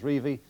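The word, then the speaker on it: Revie: that Don reevy likes to be known as reevie and not revi testimonial games we've got three more of them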